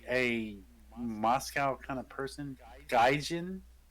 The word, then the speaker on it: gaijin: doesn't sound like a moscow kind of person gaijin it's made by gaijin entertainment in 2011. quick jump in it was first released according to tokyo drift uh gaijin means white man like like like outsider according